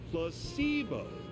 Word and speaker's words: placebo: to our vocabulary today repeat after me placeo the stress is on the middle uh UNC comfortable very